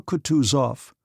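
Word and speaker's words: Kutuzov: General Coutus off said Bonsky speaking French and stressing the last syllable of the general's name like a Frenchman has been pleased to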